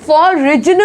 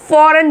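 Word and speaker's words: foreign: ठीक है, इसी तरीके से फॉरेन, फॉरिजन नहीं बोला जाता है, जिसमें जी साइलेंट है, इसमें हम क्या बोलेंगे, फॉरेन बोलेंगे, फॉरेन यानी कि विदेशी।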